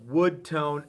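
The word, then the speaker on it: Wudtone: That's Wood Tone, and it's spelled P-honetically, W-U-D-T-O-N-E, Wood Tone.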